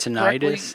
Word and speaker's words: tinnitus: Just to get that Tinnitus. correctly. Tinnitus. I wasn't 100% sure how to pronounce it.